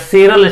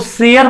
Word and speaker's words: sere: नहीं, तो आप ध्यान रखिएगा, इसको दोनों ही कहते हैं। इसका प्रोनाउंसिएशन शेरी भी होता है, SERE शेरी, या इसका प्रोनाउंसिएशन शेयर भी होता है। तो आप बहुत परेशान ना होइएगा, हाइड्रोशेरी बोलो या हाइड्रोशेयर बोलो, नहीं जेरो शेयर बोलो या जेरो शेरी बोलो, दोनों ही क्या है, एक ही बात है। दोनों ही प्रोनाउंसिएशन अपने अपने जगह सही हैं, करेक्ट हैं।